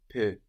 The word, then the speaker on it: peux: I can or I am able in French is je peux. Je peux. And this peux is spelled P-E-U-X. We have that X, that silent X on the end there.